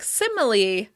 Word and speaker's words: similarly: Similarly, "similarly" might sound like "simily, simily" from time to time.